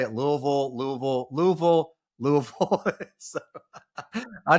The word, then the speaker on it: Louisville: So Louisville, Louisville, Louisville? Louisville. Louisville. You got not Louisville, because that's in Mississippi.